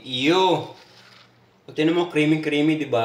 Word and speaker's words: iyo: Yun pagbasa mo ng iy o. Iyu or iyo. Ang tamang ang tamang bigkas doon ay io.